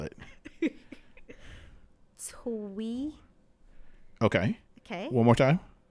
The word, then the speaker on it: Teague: I said sound it out, not spell it. Twee.